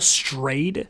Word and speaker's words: Strayed: Cheryl Strayed. Strayed. It's spelled strayed, like you stray, but with past tense.